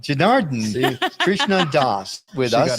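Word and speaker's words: Janardana: Oh, Janaradna. Janardhan, Krishna Das with She us.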